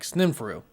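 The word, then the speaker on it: Sneferu: similar name spelt s-n-e-f-e-r-u which would be kind of like sninfuru and this person was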